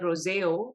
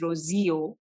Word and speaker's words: Rozeo: I think I'm saying it right this time. Last time I said Roseo. It's Rosio. Rosio. Rosio.